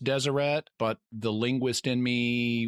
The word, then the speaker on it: Deseret: you for that I figured it was pronounced Deseret but the linguist in me was fighting the fact that it could also be pronounced Desiree and I was 90% sure it was Deseret but I hedged my bets so thank you